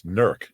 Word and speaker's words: Newark: And in Ohio, it's all spelled the same. It's Nurk. Nurk. It's pronounced Nurk.